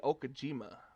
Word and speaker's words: Okajima: I can tell you got the last name right because there was a pitcher for the Boston Red Sox had the same last name. That's how they pronounced it.